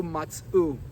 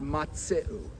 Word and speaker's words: matz'u: When he got to the words "Velo matz'u mayim," he read it "Velo matz'u mayim." not matzeu. He did a shvanach, not a shivana.